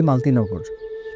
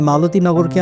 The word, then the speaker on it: মালতিনগর: থেকে আর কিছু দূরেই মালতিনগর আমরা লোকাল মানুষরা এটাকে মানে মালতিগরকে আমরা মালতিনগর বানায় ফেলছি এই জায়গাটায় আমরা ভাষার সাথে একটা অবিচার করছি বলা যায় মালতি ননগর উচ্চারণ করতেই কিন্তু সুন্দর লাগে মেবি মালতি নামে বিখ্যাত